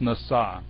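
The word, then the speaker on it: נשא: god over on the left-hand side anyway it's pronounced nasa and it means to lift up really not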